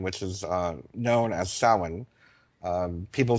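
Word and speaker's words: Samhain: idea of Halloween which is uh known as sin. Um people spell it s a m h a i n but it's pronounced sin.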